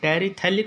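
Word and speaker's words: terephthalic: यहाँ पर ये पी साइलेंट है, टेरिथैलिक बोला जाता है ये, THALIC, टेरिथैलिक एसिड।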